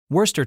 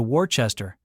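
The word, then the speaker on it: Worcester: Americans also love mispronouncing British words. Lester becomes Liechester. Worester turns into Wararchchester.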